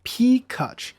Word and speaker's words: Peacuch: problem pronouncing my name my name is pronounced p kutch which is exactly the way it sounds phonetically speaking and i'll expound on